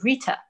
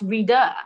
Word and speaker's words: Rita: moved to the us my name's very simple rita but in the u.s it's pronounced reader and i'm like yes